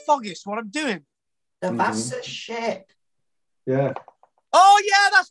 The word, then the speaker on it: Vasa: We've all heard of the Vasa. You can actually pronounce it with a W, but it's the Vasa, V-A-S-A.